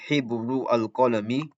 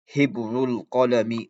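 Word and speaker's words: حبر القلم: So instead of saying Hibru al-Qalami, Hibru al-Qalami, you say Hibrul Qalami. You do not pronounce the Hamza.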